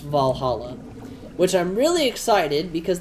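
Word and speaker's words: VA-11 HALL-A: But if you're familiar with the way it's spelled is V A1 Hall A, but it's pronounced Valhalla, which I'm really excited because that's supposed to be getting a sequel.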